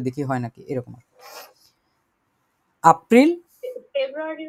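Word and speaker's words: Februar: হয় নাকি এরকম এপ্রিল ফেব্রুয়ারি উচ্চারণটা ফেব্রুয়ার ফেব্রুয়ার ফেব্রুয়ারি কি হবে ফেব্রুয়ার ফেব্রুয়ার ফেব্রুয়ারি আর ওই দেখেন শেষে কিন্তু আর এই টাইপের কোন ব্যাপার নাই ওয়াই টাই কিছু নাই এজন্য এটা হচ্ছে ফেব্রুয়ারি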